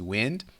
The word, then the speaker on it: wind: So pronounce this one correctly. This one is wind. Now remember, the first one was wound.